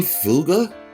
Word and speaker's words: Fugger: Let's Let's see what the Fugger family is talking about. The House of Fugger. German pronunciation. Fuga. Fuga.